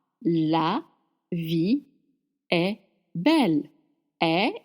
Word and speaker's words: est: Est is spelled E-S-T, but you said est, and it means is.